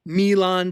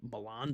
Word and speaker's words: Milan: It's in the South, so it's probably mispronounced in some way anyway, like Milan, Tennessee, when it should be Milan, Tennessee.